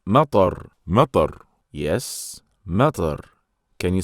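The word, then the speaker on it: مطر: It's matar. Matar. Yes, matar. Can you spell it, Adam?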